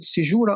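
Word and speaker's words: caesura: You may pronounce it sizura or sizura meaning hiatus meaning pose.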